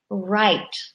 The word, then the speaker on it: write: the letter W is right right when you write a letter or I write on the board right that tricky W in the beginning silent we just don't say it but please remember to